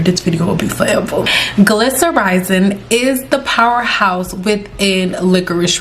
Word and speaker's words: glycyrrhizin: Glycyrrhizin is the powerhouse within licorice root. Glycyrrhizin is a tongue twister, but that's how you say it.